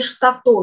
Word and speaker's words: штатол: Логика мокшанского языка или как образуются сложные слова в языке В сложных словах, где два корня, ударение всегда падает на второй корень Например, слово "штатол" образовано от слов "шта" (воск) и "тол" (огонь) Следующее слово "шумбраши" (здоровье).